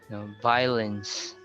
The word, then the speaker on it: violence: You just pronounce vi. You don't need to pronounce the O. Vio. Violence.